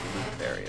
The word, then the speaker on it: Lutheria: Okay, Lutheria is how you say it.